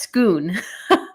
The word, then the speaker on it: Scone: The stone of scone is pronounced scoon.